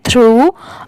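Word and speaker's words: through: हम क्या पढ़ेंगे पिग्ड टी एच आर ओ यू जी एच इसे हम पढ़ेंगे थ्रू a whole dull H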